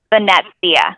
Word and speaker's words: Venezia: Well, again, how do you pronounce it again? Venezia. Venezia. Okay. Yeah. Venezia. Thank you So there's for a T in there that's invisible.